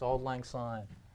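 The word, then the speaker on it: Auld Lang Syne: Scottish history books that it's actually pronounced with the S sound just like it looks all Lang sign so we did put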